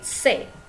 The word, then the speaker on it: ses: Se dibacanya se bukan ses, jadi bendanya jamak ya.